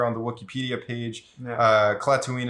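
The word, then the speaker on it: Klatooine: the Wikipedia page uh clatooine is spelled k-l-a-t-o-o-i-n-e very similar to Tatooine but it's platoon and it's in Hot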